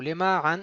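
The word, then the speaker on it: למען: Lema an, il est toujours mille'el.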